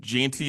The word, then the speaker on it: Jeanty: Ashton Jeanty, is that how you say it? Or Genty? I forget. Genty? Yeah, Genty.